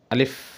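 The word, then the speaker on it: ألف: আরবি হরফ আলিফ যখন আপনি উচ্চারণ করবেন তখন দুটি জিনিস খেয়াল রাখতে হবে। এক হরফটি কোনভাবেই টানা যাবে না। দ্বিতীয়, হরফের শেষে মানে উচ্চারণের শেষে কখনোই দোনো ঠোঁট এক করা যাবে না।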